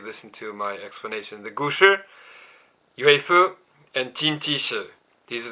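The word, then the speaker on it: 古詩: The gushi, written with the kanji furui and shi, right? goshi in Japanese pronunciation.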